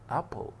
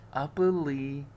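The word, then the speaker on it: apple: ابل ابل، ما قلتش ابلي، ابلي، لا ما قلتش ايه خالص، كانتها مش موجوده في اخر الكلام، لا تنطق ابل، تفاح.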